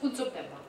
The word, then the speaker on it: Kunsup Denpa: But I wrote it in the English, I wrote how you would write the phonetics. There's a system of phonetics called Wiley. Anyway, it's not important. But it's pronounced Kunsup Denpa.